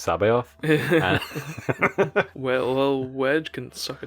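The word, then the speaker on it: C'baoth: he says oh are you talking about jorus kabouth and hannah layer like who's joris kabouth so wedge says oh i like heard this rumor which is like actually it's pronounced sabe off well wedge can suck a dick so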